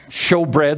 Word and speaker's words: shewbread: of the table of show bread out out of the old testament and it's spelled s-h-e-w show bread the bread is called